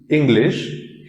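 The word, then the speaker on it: Englisch: The pronunciation of English is English and the spelling has CH at the end.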